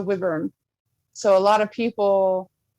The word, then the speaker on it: wyvern: which their crest was how'd you say it, Janine? The wyvern? Yes, I was going to say it right. Yeah, it was the wyvern.